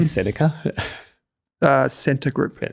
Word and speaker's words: Scentre: Centre Group. Yeah, Centre, yep. Right. But it's spelled, I can't believe how they spelled that. Shopping centre. SCENTRE. Centre. Like a shopping centre.